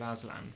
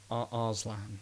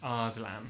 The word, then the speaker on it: Arslan: That was the heroic story of Aslan from The Lion, Witch and the Wardrobe. Arslan. Arslan. There's an R in there. There's an R. It's not Aslan the lion. Yeah. It's Arslan someone else.